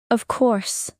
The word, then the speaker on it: of course: Prompt: shadow instantly: yes, I do, of course, not really. Emotional pronunciation tip. Pay attention to stress. In "of course," the strong sound is on course. Say it with energy: of course.